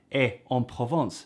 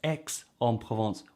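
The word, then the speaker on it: Aix-en-Provence: for peace that ends in x you don't pronounce the x so then you realize there's a place called e on provence and you find out no it's x on provence y because it's in the south another point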